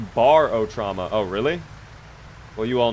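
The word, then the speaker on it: Barotrauma: It's pronounced barot trauma.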